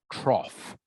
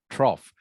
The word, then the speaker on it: trough: good Tommy okay so if the T wasn't there everyone the word would be pronounced rough but because the t